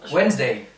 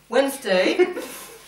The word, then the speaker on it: Wednesday: Ensuite, nous avons, attention à la prononciation. Wednesday. Très bien. Wednesday. Et pas forcément ce qu'on peut voir à l'écrit.